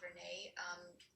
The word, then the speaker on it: Verna: Some of us think her name is pronounced Verna, but it's actually Verna.